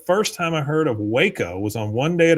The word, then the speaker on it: Waco: Uh, Arty says, "The first time I heard of Waco was on One Day at a Time, and the joke was that Schneider pronounced it wacko."